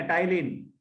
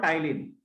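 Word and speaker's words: ptyalin: ये देख लिखा मैंने, टाइलिन. P is silent. It is also called टाइलिन.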